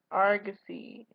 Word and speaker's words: Argosy: Not Argosy, not Argosy, Argosy. Her dad pronounced it wrong, and she's like, no, do like a pirate, Argosy.